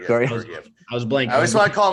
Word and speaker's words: Georgiev: I can never pronounce his name. From Georgiev. That's right. Georgiev.